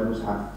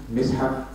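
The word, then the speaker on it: Mushaf: There are three views of pronouncing the Mus'haf, the word Mus'haf. One is Mus'haf, two, Mis'haf, three, Mas'haf. Of the three pronunciations, Mus'haf and Mis'haf are the most popular.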